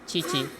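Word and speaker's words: Qiqi: just because i have kiki here if if i didn't have or actually my friends say it's pronounced it's supposed to be pronounced chichi if i they had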